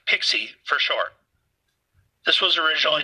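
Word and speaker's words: PKCE: OAuth named proof key for code exchange pke pronounced pixie for short this was originally designed for native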